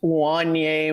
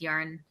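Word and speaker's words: Wanya: Wanye. Yeah, no, I did say yarn. Yeah. Oh, okay. It's like Kanye with a W.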